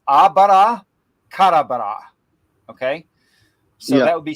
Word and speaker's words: abracadabra: we're mispronouncing it in the English. It's not abracadabra. It's abara karabara.